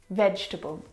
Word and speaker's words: vegetable: first word is vegetable vegetable now this word is a challenge because it looks like there should be four syllables in this word vegetable but there's not